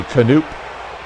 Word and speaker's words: Knoop: As Bobby Knoop strikes out. The K in Knoop is silent, but it does stand for strikeout.